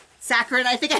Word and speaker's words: saccharin: Oh, Sangrin. Saccharin, I think I pronounced it.